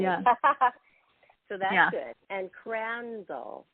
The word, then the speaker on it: Crandall: so that's good and crandall is am i pronouncing that yeah c-r-a-n-d-a-l-l and i always tell people can you crandle it oh i love it